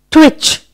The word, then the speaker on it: twitch: Alright, next silent T word is twitch.